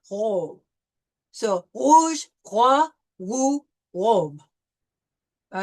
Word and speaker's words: roi: Now we see here that we have the OI, and the OI is wa sound, right? So it's going to be roi.